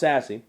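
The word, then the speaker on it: SASSC: You see, they want to make sure that their Sassy convention, it's pronounced Sassy, is up to date and has the latest in security needs for their convention.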